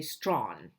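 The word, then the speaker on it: Strachan: And that's Waiting for Tomorrow by Natasha Appener, translated from the French by Geoffrey Strawn. And yes, that's how you pronounce his last name.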